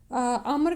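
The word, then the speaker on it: عمرو: हद्दसना मुसद्दु Cola हद्दसना अबू अवाता अन अबी बिश अन यूसुफा इबने माहका अन अब्दुल्लाह इब्ने अमरिन अम्र के आगे जब वाव लगा होता है ना तो इसका अम उमर या वो नहीं पढ़ेंगे।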